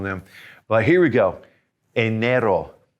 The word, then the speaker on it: enero: all 12 on them but here we go enero enero february febrero febrero in march is marso a